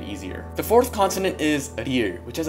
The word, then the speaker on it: ㄹ: the fourth continent is a year which has it sounds similar to L and R it's kind of in the middle and many foreign people